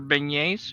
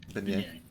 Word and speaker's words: beignet: These are beignets.